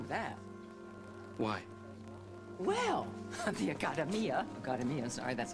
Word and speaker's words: Accademia: Well, the Accademia, sorry, that's how it's pronounced.